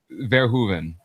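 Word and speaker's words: Verhoeven: Verhuven. What was I saying? You were putting an N in the middle of it yesterday in the space. Von Hovven.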